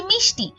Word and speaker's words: মিষ্টি: এরপরে আমরা আমরা দেখছি মিষ্টি এখানে মূর্ধন্য স রয়েছে কিন্তু এর উচ্চারণটাও কিন্তু আমাদের তালব্য স এর মত এজন্য যখন আমরা এটার